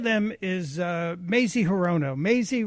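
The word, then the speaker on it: Mazie: Maisie rhymes with crazy.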